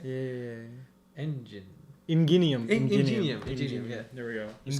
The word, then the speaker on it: Ingenium: Ingenium. Ingenium, yeah. There we go. Just call Ingenium. him It's with a soft G. Gi.